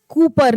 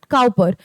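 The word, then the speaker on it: Cowper: ये क्या प्रोनाउंस किया जाता है? कूपर नॉट काऊपर।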